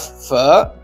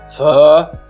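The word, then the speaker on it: phở: a warm bowl of fur with the broth now this is spelled pH H this word that was pronouncing F obviously we already have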